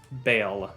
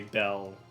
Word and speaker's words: Bail: wait how did you pronounce it bail b-a-i-l bail like paying bail and how was how